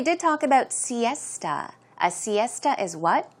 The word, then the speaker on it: siesta: the afternoon pronunciation is Siesta esta so it's more of a t sound Siesta one more time